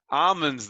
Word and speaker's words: almonds: please read the writers almonds the l is silent i'm owns but the